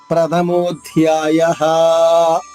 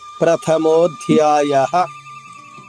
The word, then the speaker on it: ప్రథమోధ్యాయః: చేసుకోవాలి ఇక్కడ అథ ప్రథమోధ్యాయః చివరిగా ఉన్న విసర్గ ఉచ్చారణ అ చెప్పాలి హ్రస్వంగా దీర్ఘం రాకూడదు ప్రథమోధ్యాయః ఇలా రాకూడదు ప్రథమోధ్యాయః సడన్ బ్రేక్ వేసినట్టుగా ఆగిపోవాలి.